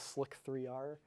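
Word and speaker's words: Slic3r: The original slicer is slicer spelled with a 3. Some people like to call this Slick 3R, just to make it not confusing.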